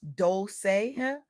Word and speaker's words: Dolce: Pronounced Dolce, like sweet softness whispered in French.